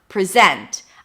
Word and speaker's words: present: Because once you put the stress on one syllable, the other syllable receives a schwa. The vowel is reduced.